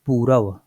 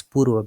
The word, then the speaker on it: पूर्व: Okay, so it is not purava. Okay, it is purva because this is half. When it is half, you have to pronounce half, so be careful. It is purva, not purav. Okay, or not puvar, puva or ra.